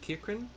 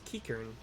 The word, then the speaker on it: Kikern: But a certain Kirkin Kirk, I've been pronouncing it Kikin, but it's Kikern Nancy.